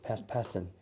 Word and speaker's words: Patten: My first name is Pat, P-A-T, and the last name is P-A-T-T-E-N, Pat Patten.